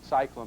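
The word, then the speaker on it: SciClone: company called Cyclone now it's spelled s c c o n e Cyclone meaning scientific cloning right ticker symbol is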